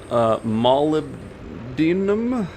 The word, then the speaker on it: molybdenum: Alright, so one very smart poster informed me that I've been pronouncing this incorrectly, which I wasn't surprised, but I believe it's molybdenum? Okay, I think that's what it is.